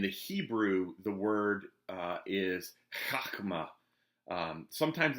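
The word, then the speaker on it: חָכְמָה: In the Hebrew, the word is chachma. Sometimes it's spelled Chokmah.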